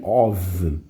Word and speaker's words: of: Repara que a pronúncia é como se fosse a letra V, of. Diferente de quando o F é duplo, que é off, tá?